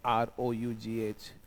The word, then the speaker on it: rough: देखो इंग्लिश में एक चीज है आपने सीखी होगी, किसी एक्शन में जब OUGH आता है तो उसका साउंड फ आता है। जैसे ये एक वर्ड है ROUGH, तो इसे हम इंग्लिश में रफ बोलते हैं।